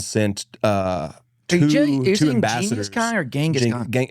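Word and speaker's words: Genghis: Well that was a weirder one because Jingus Khan sent uh two ambassadors or Gangaskhan it's pronounced Jingus.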